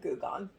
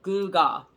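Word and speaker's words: gewgaw: honestly thought that said goo gone yeah googa so that's spelled for those of you so basically bling yeah bling g-e-w g-a-w goo gah and you could tell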